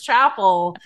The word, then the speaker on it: Chappell: she's amazing but nobody told me it was chapel and I was going around announcing it to